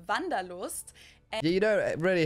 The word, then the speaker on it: Wanderlust: I'm gonna figure German that is good Wanderlust Wanderlust oh passion German word that we pronounce vandalost and yeah you don't really hair wonders much